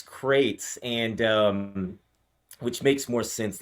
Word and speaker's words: Qrates: So you pronounce it crates. I was pronouncing it Q-rates, and I always thought it was like someone asking me for my credit score or something when I was getting emails. I called it Q-rates forever too, but yeah, it's crates,